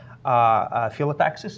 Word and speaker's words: phyllotaxis: Actually, Chris had a blog a little bit a while ago about spiral phyllotaxis, is pronounced like this.